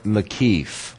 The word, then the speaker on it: makif: And of course, this is the or makif, which is very important to us. Makif. And if we spell it more accurately, it would be like this.